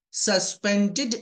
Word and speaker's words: suspended: Whenever we find DED, the spelling DED at the end of any English word, that DED must be pronounced like DID. Instead of dead, we have to pronounce did. Suspended, needed, landed, louded, pleaded, branded.